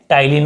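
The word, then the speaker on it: ptyalin: लार ग्रंथि द्वारा स्रावित एंजाइम कौन कौन से थे, टाइलिन और एमिलेज, ठीक है, टाइलिन और एमिलेज, बहुत ईजी है, इसमें पी साइलेंट रहेगा, तो टाइलिन और एमिलेज।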